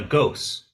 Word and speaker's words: Ghost: And what is your last name Goose? Is it Is it pronounced that way? Uh, Ghost.